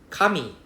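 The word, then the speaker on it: 髪: Paper and hair is the same thing, it's the same pronunciation, it's the same hiragana, but the intonation is a bit different. Kami is paper. Kami is hair.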